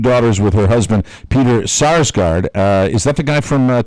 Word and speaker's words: Sarsgaard: Sarsgaard. Sarsgaard.